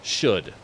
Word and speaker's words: should: Because its spelling looks like, let's see, so showed. Yeah. It's like showed, but it's pronounced should. Shoulda known.